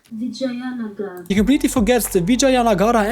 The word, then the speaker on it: Vijayanagara: Vijayana, Vijayanaagara. What's that pronounced? Vijayanagara.